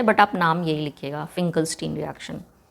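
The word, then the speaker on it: Finkelstein: तो इस रिएक्शन का नाम है एक्चुअली फिकलस्टीन रिएक्शन।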